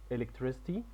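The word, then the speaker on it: electricity: بخاريه هيليكوبتر طياره مروحيه الكترستي الكهرباء اكتب تحت السي الاولى ك وتحت السي التانيه اس سولار بانلز الواح شمسيه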